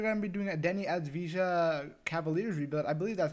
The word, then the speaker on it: Deni Avdija: video we are going to be doing a denny as visa cavaliers rebuild i believe that's how you say